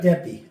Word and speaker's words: Deppe: And I don't know how to pronounce his name. Mr. Deppe? D-E-P-P-E. Dave Deppe.